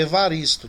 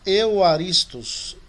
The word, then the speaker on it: Evaristo: O meu nome, o meu sobrenome também, ela é com V, Evaristo, né? Nós temos que usar o Y no lugar dele. Que aí a pronúncia fica Euaristos. Depois eu vou ajudar vocês nisso aí. Que a gente não tem um equivalente real ao V.